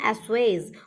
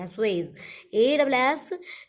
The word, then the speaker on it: assuage: है, उसको बोलेंगे हम एस्वेज, उसको बोलेंगे एस्वेज। उसको स्पेलिंग क्या होगी, ASSUAGE। एसू लिख करके आप AZE एज लिख सकते हैं, बहुत इजी आपके लिए हो जाएगी। एस्वेज, ASSUAGE, एस्वेज।